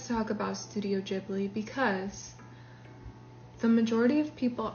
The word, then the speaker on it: Ghibli: And when you look at clips of Haya Miyazaki himself saying Studio Ghibli, he says it like that, like Gigi. Ghibli, Studio Ghibli. And so I don't like if you pronounce it Studio Giblly, fine. That's your prerogative, whatever. But when people say that I'm saying it wrong, I think I